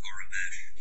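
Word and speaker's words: Aurebesh: Even the fact it's pronounced Arabesh.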